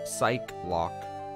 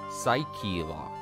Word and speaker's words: Psyche-Lock: ace attorney i've seen a lot of people pronounce psych lock as psych lock this is wrong the correct pronunciation is psyche lock thank you for your time says the original